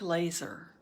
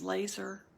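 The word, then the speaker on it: LESR: embrace stop and remain l-e-s-r pronounced like laser so we can say l-e-s-r if someone says laser that works pronounced like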